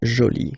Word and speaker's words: joli: you put this uh but then you don't pronounce it okay so it's jolie so basically the two